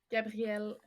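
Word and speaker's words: Gabrielle: Gabriel is pronounced the same for men and women in French. So I get called Gabriel a lot, all through college.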